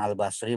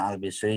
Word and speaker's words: al-Bashri: dari Hasan al-bashri boleh Hasan al-bashri boleh asal al-bisri boleh bacanya teh kayak rowahu Tirmidzi